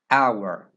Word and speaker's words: hour: Beginning Sounds y also there are a few words that begin with a silent h that are preceded with n for example air ays